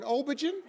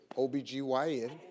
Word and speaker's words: OB-GYN: i said it says right here you're an obergen my co-host shirley strawberry was on the floor